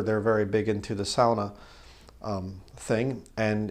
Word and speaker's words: sauna: what that is it's a lot of people say sauna but sauna is not actually the right way to say it's sauna sort of like sauerkraut SAU Sal so the you